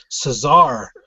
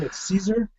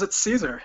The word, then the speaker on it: Caesar: Adam Caesar but I I've always pronounced his last name Cesar tell me that I'm pronouncing his name wrong it's Caesar he says it's Caesar yes well what's the [